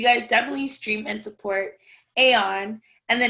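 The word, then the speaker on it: A0N: name is aeon and it's spelled a space the number zero space the letter n but it's pronounced aeon and the name of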